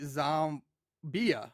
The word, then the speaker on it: Xohmbeah: So I'm thinking if you pronounce it, it'd be Zombia, right, or zombie, and the H is silent.